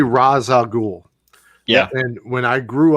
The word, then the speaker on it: Ra's al Ghul: Batman Begins called him Ra's al Ghul. I think it's one of those tomato things. That's a different pronunciation though. That's not Rays or Raz. It's Raish or Raz. That's a different sound.